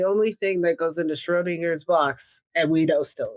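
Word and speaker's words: Schrödinger's: at the same time did i say schrodinger's is it strawberries yeah you said it right okay cool now i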